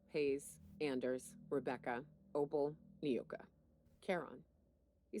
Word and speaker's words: Charon: Oh, Charon is how it's pronounced. Hayes' idea. Clara, Hayes, Anders, Rebecca, Opal, Nyoka. Charon.